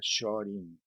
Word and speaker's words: Shorin: Existen otros estilos que también se pronuncia Shorin. Por esta cuestión que yo explicaba hace un rato con relación a la mano, te y shu, en donde hay una cuestión de opciones de pronunciación dentro del idioma. Entonces, hay muchos estilos que se dicen shorin, Se pronuncia shorin y está correcto que así sea, pero la palabra yo